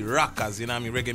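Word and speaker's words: Rockaz: new sound that we're coming with but we spell it R o c k a z rockas you know I mean reg music that rocks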